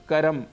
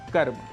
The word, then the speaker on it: कर्म: शुद्ध उच्चारण है गणपति इसी प्रकार कहीं-कहीं हम स्वरों को जोड़ भी देते हैं जैसे जन्म जैसे कर्म जैसे धर्म जबकि इनके शुद्ध उच्चारण हैं जन्म धर्म और कर्म ऐसे ही उच्चारण को